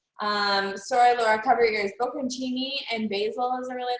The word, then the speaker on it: Bocconcini: Bocconcini and basil is a really nice option.